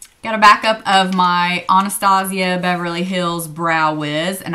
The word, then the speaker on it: Anastasia: their brows done and she said it was Anastasia so that's why a lot of us that know that probably pronounce it that way we're not trying to be upy or snoody or whatever that's how she pronounces her name so I'd like to pronounce it correctly also a backup again